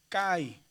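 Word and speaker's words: καί: que si si decimos kai es cai. La i se pronuncia más abajo.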